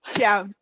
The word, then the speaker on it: Thiam: Think about CH. Thiam? Yes, Thiam.